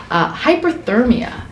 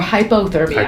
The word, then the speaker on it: hypothermia: And that brings us to our next subject, hyperthermia. Or hypothermia. Hypo, I'm saying, okay. I said it wrong. Hyper is too hot, hypo is too cold. So it's important to get that term right.